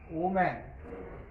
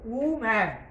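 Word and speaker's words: woman: মোটা, ওম্যান মানে স্ত্রীলোক, ওম্যান, আমরা আমরা ওম্যান উচ্চারণ কি করবো, উম্যান, ঠিক আছে, উম্যান, ইংরেজিতে যখন উচ্চারণ করবো ডাব্লিউ এ ও এম এ এন, কি বলবো, উম্যান, ঠিক আছে, ডাব্লিউ ও এম এ এন।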